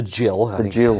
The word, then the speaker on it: Gill: So it's called the gill how it's pronounced and it's it's a it's a quarter of a pint.